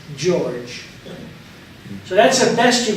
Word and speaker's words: George: Amina here and not even though it's written in Hebrew gorg it's pronounced George so that's the best